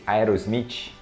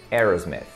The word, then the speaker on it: Aerosmith: A galera aqui no Brasil chama de Aerosmith, Aerosmith, alguma coisa assim do tipo. Mas em inglês você vai pronunciar Aerosmith. Aerosmith, ok? Aerosmith. E o som do TH no final, né?